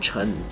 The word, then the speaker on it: Chen: For example, my surname or my last name is from the Chinese word Chen. In Cantonese, it is Chan. In Hokkien, Ui, that is Tan.